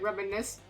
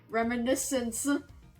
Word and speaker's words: Reminiscence: I was I was pronouncing it reminisce.